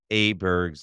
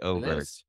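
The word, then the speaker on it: Åberg: previewing the 2024 season, I had pronounced Aberg's name as Aberg, and it's incorrect. It's actually Oberg.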